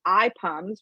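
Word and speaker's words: IPUMS: weren't here before uh eye pums which is spelled i-p-u-m-s is a fabulous source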